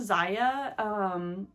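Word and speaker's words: Zyia: Here's another gray crew neck, but this is a Zaya. Is that how you say it? Z-Y-I-A. Here's the tag. This is a Zaya crew neck sweatshirt.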